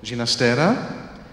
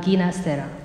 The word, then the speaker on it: Ginastera: He preferred the pronunciation of his name to be alla italiana, Ginastera, because his one of his parents was Italian, the mother was Italian, I think, and the father from Catalonia. And you know, in Spanish you say Ginastera, but he preferred Ginastera, alla italiana.